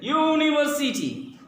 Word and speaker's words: university: Yes, so look at there, university. When we pronounce, the first sound comes here, university. It's not university, it's university. Yagya ka ya, so that means ya sound is there, and ya is consonant.